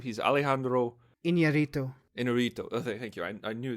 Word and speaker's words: Iñárritu: And the how do you pronounce the director's last name? He's Alejandro Iñárritu.